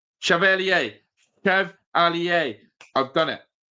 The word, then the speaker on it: Chevalier: It's Chev ali Chev ala phonetically. That's how it's pronounced. Jeezy comments. Chev alier. Chevalier.